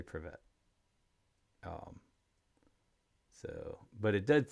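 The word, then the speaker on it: Привет: To help recognition pick up, start by slowing down the pronunciation, focusing on this distinct sound, emphasize the V sound, and roll the R in the middle of the word.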